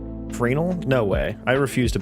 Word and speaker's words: Fresnel: I didn't know the S was silent for the longest time. Are you fucking serious? So it's Frenel? Frenel?